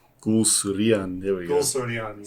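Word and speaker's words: Guleserian: Director of photography John Gulserine. Or you're better pronouncing these. Yes, it's Gulserian.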